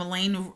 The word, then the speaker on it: Elaine: in the lunch room Elena rhymes with pain well Aldo staring at